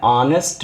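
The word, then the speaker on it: honest: मैन यहां क्या है ऑनेस्ट मैन तो पह साउंड अ का आ रहा है तो इसमें हम क्या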